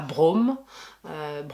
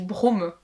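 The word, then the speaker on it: Broome: Rien à voir, mais t'as dit Brome. Oui, Brome. B-R-O-O-M-E. Et Brome, c'est aussi un personnage de LOL. Ah ouais? Ça s'écrit pas pareil, mais ça se prononce pareil.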